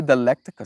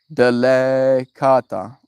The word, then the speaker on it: Delicata: Did I even say it correctly? Delicata squash. Now it sounds like delicate and something.